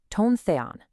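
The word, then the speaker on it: τὸν θεόν: The first part says, "The word was with tone Theon." That's pronounced tone the on.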